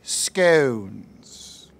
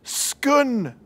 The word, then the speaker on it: scone: Fresh scones. It's pronounced scun. It's scone, sir. It's scun, like gun. Scone, like throne, where the queen wears a crown.